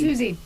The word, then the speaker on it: Susi: works, but it sounds like a Z. Yeah. Oh, it does sound like a Z. It's Susie.